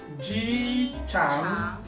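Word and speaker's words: 机场: Ji-chang. Ji-chang. Tama ba yung pag-pronounce ko?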